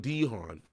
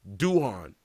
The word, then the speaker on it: Duhan: Mintz, you had Shawn Dehon, or I already I I butchered his name again. I did the same thing in the video. Shawn Duhan. My bad. Not Dhon, but Duhan.